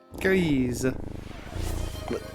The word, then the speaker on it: Grizz: Grizz. Like you're saying Greece, but in a really fucked up way.